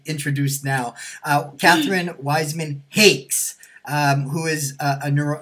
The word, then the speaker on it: Hakes: an element of humor I always say it rhymes with chocolate cake with an h and an s on the end there you go I